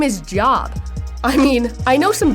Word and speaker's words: Job: As much as I think you're right about his dedication, in this particular situation, this person's name is pronounced Job.